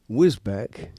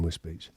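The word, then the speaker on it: Wisbech: Whisbeck, which is actually pronounced Whiz Whizbe Beach.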